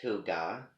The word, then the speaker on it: hygge: Hygge, pronounced Huga, Huuga, which sounds like, something, that what does that name sound like to you?